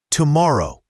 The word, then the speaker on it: tomorrow: Here, see you often becomes see ya, and tomorrow has the stress on the second syllable, tomorrow.